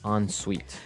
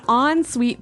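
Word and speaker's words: en suite: s UI T so even though it's e n we pronounce it like an o n yep on Suite so an on Suite bathroom is a bathroom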